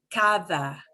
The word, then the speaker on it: cada: Cada. Cada. Cada. Casa. Cada. It'll sound like C-A-T-H-A. Cada.